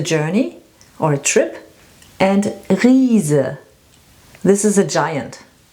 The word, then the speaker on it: Riese: And Riese, this is a giant. Reise and Riese.